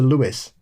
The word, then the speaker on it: Lewes: I live very close to Lewes, just like the town in England. The pronunciation is a source of confusion for newcomers who don't understand it's the UK English pronunciation.